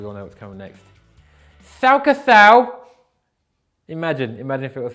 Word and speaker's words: Schalke: Schalke Shout is more of a sh. I can say that. I just can't do a s. Okay, so I guess now we all know what's coming next. Schalke Sau.